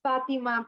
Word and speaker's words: Fatima: Fatima, is that how you say it? It's pronounced Fatima, pero it's okay.